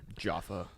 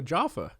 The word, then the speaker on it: Jaffa: here wait listen oh jaffa jaffa okay but she's saying that like an american though well i don't think they just oh british pronunciation here i can change her voice jaffa